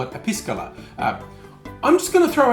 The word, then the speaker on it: Piscola: Careful how you pronounce it. I'm being very careful to say Piscola because I don't think you want to call your drink with cola Piscola.